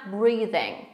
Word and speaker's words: breathing: I teraz w słówku breathing, to tychy jest jak the, breathing, breathing. I zwróćcie uwagę, że ing na końcu nie ma w wymowie tego g, tylko jest ing, breathing, breathing. Zatrzymujemy się tak jakby przed tym wypowiedzeniem tego g.